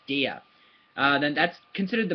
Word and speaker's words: der: say that de de it's spelled like dur looks like dur but um it's pronounced de okay so if you see the d r then it's de uh then that's considered